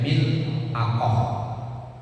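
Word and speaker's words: ملعقة: mutlak wal milq dan lafaz milqah bikasril mimi dengan kasratnya huruf mim wasukunil lami dan sukunnya huruf lam wa fathil aini dan fathahnya huruf ain yaitu bacanya mil aqoh artinya cendok wuqolu dan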